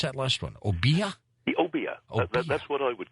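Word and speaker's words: Obeah: Santeria and, how do you pronounce that last one? Obia? Obia.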